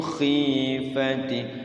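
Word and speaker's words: خيفته: Wa yusabbihur ra'du bihamdihi wal malaikatu min haifati. Iya, sekali lagi min kha-nya bagusin. Ra'dunya pendek ya. Wa yusabbihur ra'du bihamdihi wal malaikatu min khifati. Di atas tenggorokan khi ngorok ya.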